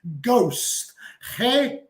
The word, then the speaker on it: ghost: you know H okay awesome so yes fantasma in English is Ghost o g h o